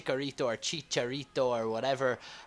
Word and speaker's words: Chicharito: say H chorito or Chicharito or whatever H because in the comments every time I say that people are like oh dude it's not a chorito it's like a a Chicharito you know and you